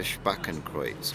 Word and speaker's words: Spakenkreuz: So it's called correct pronunciation is a Spakenkreuz.